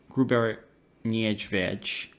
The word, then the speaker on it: Gruber Niedźwiedź: So yes, I did pronounce this bar wrong last time. It's Gruber Niedźwiedź, and it translates to fat bear.